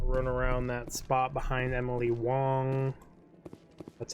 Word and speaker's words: Emily Wong: I did not run around that spot behind Emily Wong that's how you pronounce her name I also didn't come up